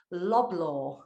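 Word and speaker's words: Loblaw: VP of one of Canada's largest retail organizations loblor have I pronounced that one correctly yeah slabla companies limited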